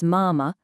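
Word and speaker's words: 妈妈: And finally, don't forget that light quick second syllable. It's mama, not mom.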